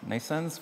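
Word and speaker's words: NNAISENSE: our company in nasons nasens which is pronounced like birth but spelled in a different way neural network based artificial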